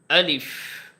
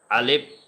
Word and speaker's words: আলিফ: হ্যাঁ, অনেকে আছে এটাকে আলেপ, আলেপ বলে, মানে উচ্চারণটা স্ট্রং করে না, এরকম আলিফ, আলিফ হবে না, আলিফ, আলিফ, আলিফ বলতে হবে।